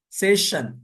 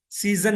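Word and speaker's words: session: پینشن وظیفہ، mention Mahal, سیشن، سیشن سیزن نہیں بولیے گا، سیشن، سیشن مدت کار،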